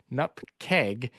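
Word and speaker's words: nupkg: Um, the the appropriate pronunciation of a chocolatey package is nupkeg.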